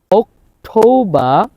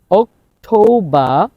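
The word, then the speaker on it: October: এর উচ্চারণ হবে এবং শব্দের শেষে যদি আর হয় আর এর উচ্চারণ হবে না তাহলে খেয়াল করুন সেপ্টেম্ব তাহলে সেপ্টেম্বর না সেপ্টেম্ব অক্টোবা অক্টোবা অক্টোবা নো ভেম্বা ভি সাউন্ড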